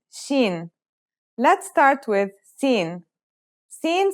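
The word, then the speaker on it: سين: let's start with scen scen sounds just like the English s it's very easy to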